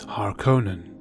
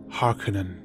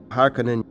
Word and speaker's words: Harkonnen: a common miss pronunciation of this word is har conan but it is pronounced Harkonnen Harkonnen Harkonnen dat prime the word is pronounced as